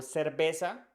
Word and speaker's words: cerveza: C in Spanish so before e or I is pronounced as the s in so and before A O